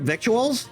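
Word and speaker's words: victuals: Never heard of the word vituals and speedy. It's lingo out here on the trail. Doesn't look like it, but it rhymes with little.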